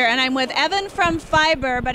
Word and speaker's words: Fyber: performance marketing insider and I'm with Evan from fiber but it's spelled FY ber hey Evan are you doing